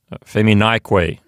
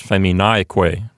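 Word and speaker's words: feminaeque: ending, Q-U-E, it becomes feminique, which now means and women. And so the accent is now on the syllable right before the que, so it's feminique, like that.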